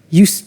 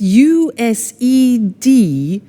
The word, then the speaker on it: used: have now, we use used to. Look at the spelling. It's U-S-E-D and then T-O. But the pronunciation is not used, it's used.